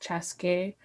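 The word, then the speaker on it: Chaska: We have cities called Minnetonka, Chaskey, which is pronounced Chaskey.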